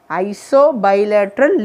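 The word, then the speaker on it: isobilateral: okay iso bilateral leaf you have to pronounce it that way split ever and read iso bilateral leaf okay the second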